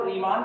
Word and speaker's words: Riemann: कई लोग इसको केवल और केवल रीमा पढ़ते हैं, केवल रीमा, ठीक है। तो उनके प्रोनाउंसिएशन का अपना तरीका है, अपने लोग स्पेलिंग याद है इसलिए हम लोग रीमान बोलते हैं।